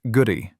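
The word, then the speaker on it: K'gari: Specifically, they reached an island that the indigenous inhabitants called Kagari, pronounced Guri, meaning paradise in their language.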